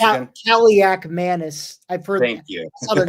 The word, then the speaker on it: Kaliakmanis: How is it pronounced again? Kaliakmanis.